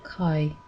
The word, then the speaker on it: chi: The next letter is Chi, and it is similar to kappa, except that the K is harder, and you can say it more correctly if you imagine that there is an H after it.